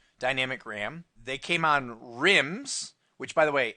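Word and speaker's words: RIMM: Ram they came on rims which by the way r-i-m-m does not stand for anything it just rhymes with The Sims and dims okay so it's rambis's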